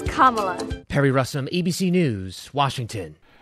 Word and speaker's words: Kamala: properly say her name it's not Cala it's not CA it's Kamala Perry russom ABC News